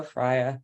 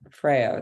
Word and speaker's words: FREYA: event yield algorithm and it's pronounced the Danish way so Freya not Freya that's the Swedish way